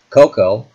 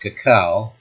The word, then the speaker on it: cacao: britannica page 628 reveals cocoa more properly pronounced cacao is a valuable dietary